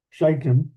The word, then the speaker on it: Shittim: For the ships of Shittim, careful how you pronounce that, Shittim, that's CH, not SH, Shittim, shall come against him.